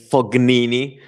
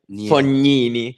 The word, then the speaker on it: Fognini: Talking about pronunciations, an Italian one that is really common is people saying Fognini, because in Italy we have the sound ñ, Fognini.